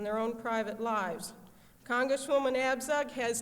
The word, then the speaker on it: Abzug: I know it's hard to pronounce my name, but it is Abzug. It's a little different, you know. It's not too American not to have a B and a Z together, which is, 2 consonants don't go together.